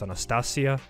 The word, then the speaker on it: Anastasia: We already have two names, which is, one of them is Anastasia, which in Serbian would be pronounced Anastasia.